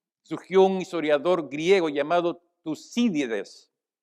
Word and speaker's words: Tucídides: En aquel tiempo surgió un historiador griego llamado Tucídides, con acento en la I para que sea más fácil, Tucídides, quien hizo esa declaración.